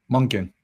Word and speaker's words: Monken: My only problem is with how do you pronounce his name? Monken? Monken. Right.